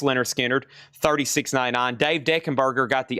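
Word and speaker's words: Lynyrd Skynyrd: This is pronounced Leonard Skinnard.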